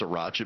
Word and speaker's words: sriracha: to actually concentrate now and remember that it's pronounced sriracha because mike hacked it so badly the sriracha hot sauce is there you have some crackers